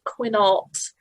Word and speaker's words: Quinault: a three sided yeah the actual pronunciation is quinault the quinault rainforest is